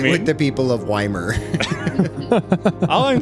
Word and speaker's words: Ymir: No, I have a bone of Weimar because there's a tiny ass town in the center of South Central British Columbia that is spelt Y-M-I-R, and they insist on calling it Weimar instead of Ymir.